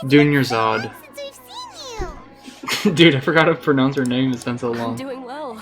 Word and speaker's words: Dunyazad: Dunyazard. Oh, it's been a while. How are you doing? Dunyazad! It's Dunyazad.